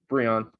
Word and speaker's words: Breon: It rhymes with neon. It's not French, just Breon.